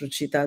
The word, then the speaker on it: Ruchita: From Lauren, I'm often asked, it is Ru before Cheetah. So that's Ruchita. That's how the name is pronounced.